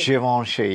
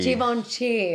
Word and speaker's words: Givenchy: Givenchy. Givenchy.